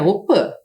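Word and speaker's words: opy: participam sempre da op embora a gente escreva aqui opi que é a casa de reza a pronúncia correta é Opa Principalmente as crianças pois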